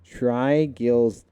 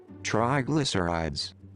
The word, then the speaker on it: triglycerides: Trigildides. Trigildides? Trigillic Earths. What? I'm gonna type this. What's this say? Let's see. I want to see it sound. How to pronounce this word? Let's see. Triglycerides.